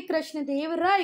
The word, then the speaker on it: कृष्णदेव राय: मैं भी सुनती हूं तो वो बोलते हैं कृष्ण देव रया जोक वो कृष्ण देव रया नहीं बेटा कृष्ण देव राय हैं तो ठीक है पढ़ने